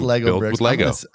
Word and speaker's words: Lego: i build next like growing up i loved legos loved legos and did we correct him should